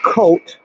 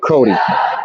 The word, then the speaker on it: Coate: told me that olivia olivia coate as i have been calling her with my source from inside the ferryville girls basketball team told me earlier tonight should be pronounced cody so in deference to the elder statesman of berkshire league basketball we are going to pronounce it as cody for the remainder of